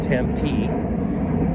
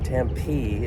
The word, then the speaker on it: Tempe: And the accent is on the last syllable, I guess.